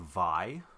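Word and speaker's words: Vay: Well, I have a pretty fine RPG to talk about also, and that's a game called VI. Oh, this it's spelled V A Y.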